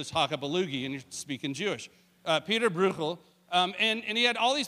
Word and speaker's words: Bruegel: His name was Peter Bruegel, and that is how you pronounce it, because there was a little speaker next to the thing, and I played it like 10 times. Peter Bruegel, which almost sounds Hebraic, really. That's a good Hebrew word, is the Chakabalugi, and you're speaking Jewish.